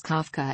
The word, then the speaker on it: Kafka: image of a jackdaw in Czech pronounced and colloquially written as Kafka as his business logo